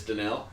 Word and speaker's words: Danielle: It was like Danielle something, and it's spelled basically Danielle. Yeah, Danielle Hunter. Yeah, but it's Danelle.